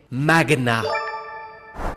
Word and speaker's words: magnat: La bonne prononciation est magna.